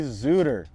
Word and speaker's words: Xootr: today is a zooter yes it's spelled x-o-o-t-r but it is a zooter of course i'm dagwood